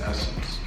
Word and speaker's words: Essence: is gonna be essence some of you are gonna pronounce it as sense but it is essence essence is easily my